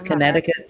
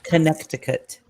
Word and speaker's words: Connecticut: winter I remember and my mother pronounced this Connecticut Connecticut she pronounces every letter in it it's crazy connec